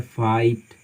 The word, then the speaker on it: fight: Silent letters मतलब हम जी एच का उच्चारण बिल्कुल नहीं करते हैं। जैसे एग्जांपल आपको बताते हैं, फाइट, FIGHT, तो यहाँ पे जी एच साइलेंट है, हम पढ़ते हैं फाइट, फाइट, जी एच साइलेंट है।